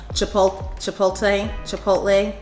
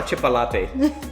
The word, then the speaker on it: chipotle: Chipotle. Chipotle. Chipotle. I think it's meant to say chipotle. Chipotle. Chipotle. No, it's not no chipolate. Chipotle. It's chipotle.